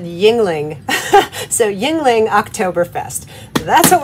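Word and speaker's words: Yuengling: All right, it's the next day, and I Googled how to pronounce this. It said Yingling.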